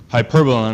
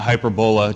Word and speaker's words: hyperbola: And remember, it's hyperbola, not hyperbola, just like it's parabola, not parabola.